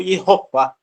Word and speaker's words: Yehová: Conforme ele bateu no papo, ele falou Yehová. Isso, Yehová. Então tá aí a exatamente.